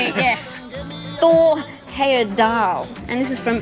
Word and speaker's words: Thor Heyerdahl: the kontiki pronounced yeah Thor Heyerdahl and this is from L Thomas in Welling Kent absolutely correct congratulations it was actually tore higher than oh you know you